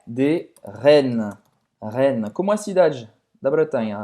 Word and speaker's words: Rennes: Rennes. Como a cidade da Bretanha? Rennes.